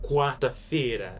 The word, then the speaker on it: quarta-feira: Quarta-feira. Quarta-feira. Alright, this is how you spell it right here.